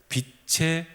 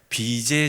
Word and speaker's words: 빛의: 저희는 빛의 자녀예요. 이걸 발음을 잘하셔야 됩니다. 비제의 자녀가 아니에요. 예. 우리가 빚제 많이 시달리고 있습니다만 예. 빚의 자녀가 아니라 빛의 자녀.